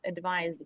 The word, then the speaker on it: advised: advised H with s with s advised we will say it with a z sound and it's a verb